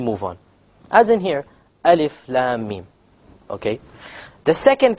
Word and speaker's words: Alif: the letter in which You only pronounce the name and you have no Mad whatsoever no m and that